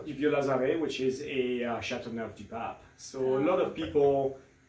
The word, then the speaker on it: Châteauneuf-du-Pape: It's got a cool name, but sometimes people just have a hard time pronouncing. So it's Châteauneuf-du-Pape.